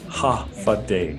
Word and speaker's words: Håfa Adai: It's pronounced Håfa Adai. And it sounds like half a day when you say it, but it's a greeting that means hi or hello.